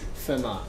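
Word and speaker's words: Fermat: called thar's primality test thar is spelled like this format with an e instead of an O but it's pronounced FMA okay I think it's Pi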